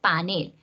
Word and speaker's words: panel: Y a los que los critiquen, pues los invitan muy cordialmente a visitar el diccionario para que sepan que se dice panel. Se escribe panel.